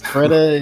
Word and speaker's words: Freddeh: Freddeh is technically, but Freddie is fine.